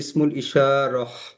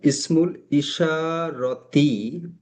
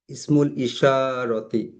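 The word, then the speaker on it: اسم الإشارة: Demonstrative pronoun, demonstrative pronouns বাংলাতে ইশারা সূচক সর্বনাম বলা হয়, এবং আরবিতে ইসমুল ইশারতি, সংক্ষেপে ইসমুল ইশারহ। বাট আমরা ক্লাসে ইসমুল ইশারতি এভাবে উচ্চারণ করে পড়বো অবশ্যই, ইসমুল ইশারতি।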